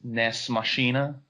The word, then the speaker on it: Nex Machina: Well, first of all, Paul, I think that it's pronounced Nex Machina.